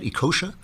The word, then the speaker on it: Ekeocha: Uju Ekeocha. Am I pronouncing your name right? Ekeocha? Absolutely fine.